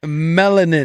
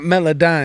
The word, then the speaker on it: melanin: It's melanin. Melanin? Yeah, not melodyne.